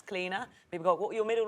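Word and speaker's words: Clíodhna: it's actually my middle name as well it's cleaner we got what your middle name is cleaner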